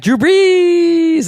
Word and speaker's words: Drew Brees: Yes, because of their quarterback, Drew Brees. And that is how you say his name. Really? Drew Brees.